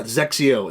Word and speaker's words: XXIO: so yeah zexio the xxio the one that nobody knows how to pronounce um the only reason